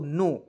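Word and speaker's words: know: पढ़ेंगे दोस्तों नो देखिए के एन ओ डब् को क्या पढ़ेंगे दोस्तों देखिए एन ओ डब् के को इसमें साइलेंट कीजिएगा एन ओ डब् को नाउन नहीं पढ़ेंगे यहां पे एओ नो पढ़ा जाएगा क्लियर के एओ डब्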